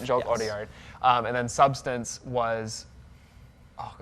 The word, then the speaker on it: Jacques Audiard: I think if I pronounce it right, is it Jacques Audiard? Audiard. Yep. Jacques Audiard.